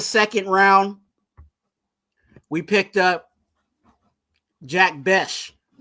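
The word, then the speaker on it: Jack Bech: Okay, going to the second round, we picked up Jack Besh. Okay, that's right. That's how you say it.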